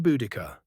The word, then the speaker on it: Boudica: Lady Buuda, he says, using the Roman pronunciation of your name.